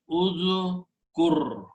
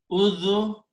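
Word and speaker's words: اذكر: Now, if we put alif in the beginning with a dhamma and pronounce udhkur by putting an alif with a dhamma in the beginning and combining with dal, udhkur.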